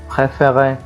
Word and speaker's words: préféré: طيب علشان الأكسون اللي وضعت هنا دي غيرت النطق تماما، فبقت fermé زي préféré.